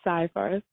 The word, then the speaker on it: Seyfarth: Seyfarth you how do you how do you pronounce the name of the firm yes it's Seyfarth okay so it's Seyfarth okay I don't want